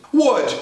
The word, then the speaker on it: would: mais fácil mais difícil começando com a pronúncia Wood já apareceu aqui nesse curso várias vezes já tá sabendo que o w é o w que o l não existe você fala Word isso